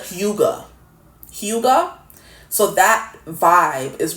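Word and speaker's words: hygge: Y G E and it's not pronounced how it looks. And the the Google said huga.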